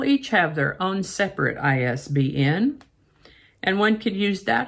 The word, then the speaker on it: ISBN: in a phrase and they're pronounced as individual letters like fbi for the federal bureau of investigation isbn stands for international